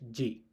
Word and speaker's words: G: G is spelled as J.